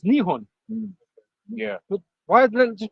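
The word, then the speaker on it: 日本: it Japan right but they say Japan in Japanese it's nion yeah why just call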